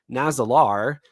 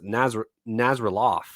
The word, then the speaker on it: Nazalar: When discussing the book, Isaac kept mispronouncing Nazalar as Naz Nazarof.